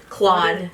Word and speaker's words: Claude: Like, what should you do if you haven't really tried any of the, Claude, how do you pronounce Claude? Claude.